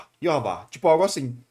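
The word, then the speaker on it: Yhwach: Porque é como se fosse Jeová, só que uma vibe bem alemã. Só que em japonês, como eles não conseguem pronunciar isso exatamente, eles falam Yuhabarra. E aí o Narras pega essa pronúncia, ele continua falando Yuhabarra. Eu gosto de puxar um pouquinho mais pra, tipo, o que eu consigo falar, ainda deixando perto do alemão. Então, Yuhavá, é como eu chamo.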